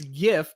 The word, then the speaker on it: GIF: file type Stephen Wilhite pronounce it with a soft G it was a play